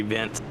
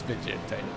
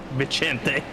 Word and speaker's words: Vicente: You can call me Vince. No, it's Vicente. Vicente.